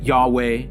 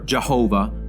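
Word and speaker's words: YHWH: the yhwa of which the exact pronunciation has been lost yet some pronounce it yahweh or jehovah or jehovah regardless of the exact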